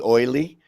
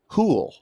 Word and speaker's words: Houle: for about six months i was calling eddie oily and it's eddie houle like eddie cool so we learned something